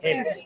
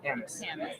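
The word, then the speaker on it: Hamish: So she gave me a good little correction because we've been pronouncing his name wrong, but she said that happens a lot. So it's actually Hamis, correct? Hamis.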